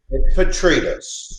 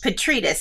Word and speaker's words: Petrides: to make sure i'm saying it correctly so petritos petritus see i would have i would have americanized